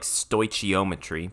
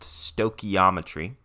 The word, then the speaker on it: stoichiometry: I know it looks like stoichiometry, but it is pronounced stoichiometry.